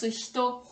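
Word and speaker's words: 人: Ça se prononce hito.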